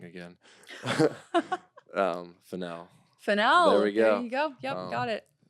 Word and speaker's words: Fennell: Those will be down below because I'm going to say her name wrong again. Fennell. Fennell.